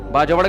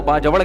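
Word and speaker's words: باجوڑ: बाजड़ का जिसको बाजवड़ कहते हैं। असल प्रोनाउंसिएशन यह है बाजड़।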